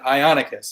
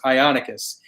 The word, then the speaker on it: Ionicus: And Josh, that's how you pronounce it, Ionicus. I know that we both mispronounced it on our stream, so it's Ionicus.